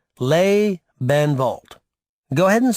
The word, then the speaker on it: Lebenwald: That's pronounced Lebenwald.